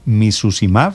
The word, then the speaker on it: emicizumab: Este emicizumab, el que le faltó a Kevin, ¿lo estoy pronunciando bien? ¿Emicizumab?